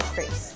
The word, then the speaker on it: crêpe: and then make the crepe Suzette. I don't know. I say crepes because like that, or crepe because that's sort of the French pronunciation, but most people just say crepes.